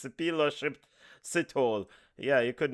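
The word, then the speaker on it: Sphephelo Sithole: Yeah, I know you guys been playing around with this man's name, but it's Shipilo Sithole.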